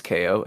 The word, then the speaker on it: KO: is my name is KO and yes it's pronounced KO not cow I have to clarify